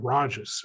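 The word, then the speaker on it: Rahjes: pronounce their name there's one representative whose last name is spelled r-a-h-g-e-s excuse me j-e-s and he pronounces it rajs and i actually asked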